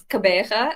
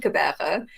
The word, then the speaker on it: Gqeberha: So we moved from Port Elizabeth, and it's Gqeberha. I also cannot pronounce it properly, but I think that I'm a little bit closer there.